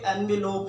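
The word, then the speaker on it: envelope: लोग ध्यान में रखिएगा, एनवेलोप जब नाउन है तो ये एनवेलोप है। जब हम इसको एज अ वर्ब यूज करते हैं, अब ये देखें इसके स्पेलिंग भी डिफरेंट हैं, उसमें ई नहीं आ रहा। अब हम इसको एज अ वर्ब यूज कर रहे हैं तो हम इसको कहेंगे इन्वेलप।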